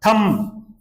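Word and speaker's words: thumb: यह उच्चारण देखें आप थम यह जो उच्चारण होता है नाय इसमें बी साइलेंट होता है थम बोलेंगे जैसे कंगा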